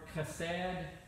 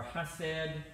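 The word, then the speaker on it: chesed: I'm pronouncing this right it's the word cassette or hush said CH e sed so however you would pronounce that and it means this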